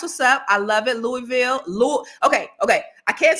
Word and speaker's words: Louisville: how I heard it Louisville okay right okay okay well but why don't it it technically it says Louisville right right right I mean you know right louville maybe the S is silent or maybe close to